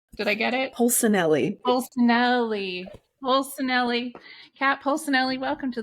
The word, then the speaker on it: Polsinelli: I said your name wrong the first time, and now it's like stuck. I can't get around. Kat Polsinelli. Did I get it? Polsinelli.